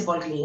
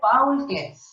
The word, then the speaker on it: Paul Klee: Pronuncia bien, no se dice Paul Klee, ¿eh? Paul Klee.